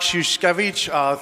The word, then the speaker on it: Szuszkiewicz: A pair of shoes, then Skev, and then each. So, my name is Szuszkiewicz.